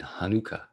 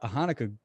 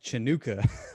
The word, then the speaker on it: Hanukkah: And but he pronounced it Chinooka. And I thought that was so funny. Like I'm not hating on Smokey Robinson. I don't blame him for pronouncing it like that. What they should have done, they should have provided like a pronunciation for it, and they didn't. So it's like if you're not familiar with it, why wouldn't you? Like a CH, like it just looks like it would be Chinooka.